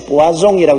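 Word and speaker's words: poisson: 여기 불란서 말은 포이슨은 부아종이라고 있는데 그것은 물고기란 말입니다.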